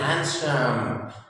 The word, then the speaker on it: handsome: आमतौर पर लोग बोलते हैं यू आर लुकिंग हैंडसम, तो that is नॉट हैंडसम, that is हैंडसम। हैंडसम, डी is silent here.